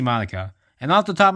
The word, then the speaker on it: Madoka: Some people pronounce it as Madoka, which is understandable when you first see it, but it's actually Madoka.